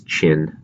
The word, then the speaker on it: Qin: pronounce those different dynasties this is Qin kind of like China and the Jo the Shang